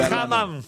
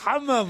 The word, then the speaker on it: hammam: Non, d'habitude, vous prononcez mieux. Le hammam. Non, hammam. Hammam. Non, hammam.